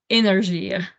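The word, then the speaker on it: Énergir: the the one of energy and I'm sorry if I say it wrong with a big accent in French we say energ so you're probably familiar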